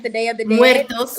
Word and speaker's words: Muertos: because when they did like Dia de los Muertos, I pronounced it wrong. When they did the Day of the Dead, Muertos.